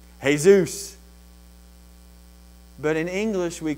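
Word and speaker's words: Jesús: EA Zeus Zeus now if you were Spanish what would you say hey Zeus but in English we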